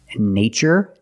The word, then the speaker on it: nature: These two words, nature and natural. We see the spelling pattern, T-U-R-E. In this spelling pattern, T is pronounced with the ch sound, like chicken. So we see the word nature.